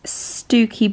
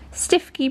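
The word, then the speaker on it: Stiffkey: would you pronounce that it's stokey blue you'd never think that would you looks like a stiff key stifky blue they say the amount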